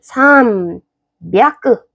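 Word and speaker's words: 三百: 왜냐하면 산 향가 아니고 300을 할 때는 산끄 됩니다.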